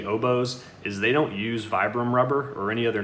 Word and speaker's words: Vibram: about now so and uh i guess i'm pronouncing it wrong it's a vibram but it's all good stuff and then you